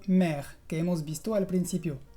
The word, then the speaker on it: mère: Lo vas a encontrar mucho en palabras que tienen una consonante final pronunciada y una E al final. Por ejemplo, en las palabras père o mère, que hemos visto al principio.